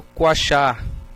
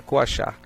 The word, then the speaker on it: coachar: nupcial né que é o coachá pronto pronúncia correta é coachar Tá legal o macho